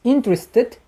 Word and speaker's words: interested: But with interested, we shall add syllable. Yes. Interested.